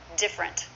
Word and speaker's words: different: different words and phrases different two syllables not different but different say that with me different camera should be